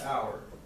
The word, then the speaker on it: hour: Is which letter is silent in the word hour? Okay, so H is silent.